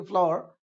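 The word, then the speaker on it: flour: है shift the फ्लोर फ्लोर एफ एल ओ यू आर फ्लोर माने फ्लावर थोड़ा सा उसको हम प्रोनाउंस करेंगे फ्लोर तो उसके माने होता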